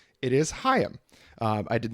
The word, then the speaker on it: HAIM: you alex for correcting me it is not pronounced haim it is hayam uh i did not know that until just before the episode but i'm glad to know that now and i'm going to keep saying hiyam to try to wash the hame out of